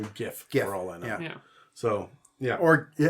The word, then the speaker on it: GIF: that abundantly clear earlier it's pronounced Giff it's not isn't a Jeff I don't [ __